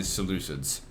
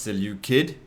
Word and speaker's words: Seleucid: Play campaign as the Seleucids. Now if you're gonna give me shit at saying, oh, it's actually pronounced Seleucid, both is acceptable, fuck off.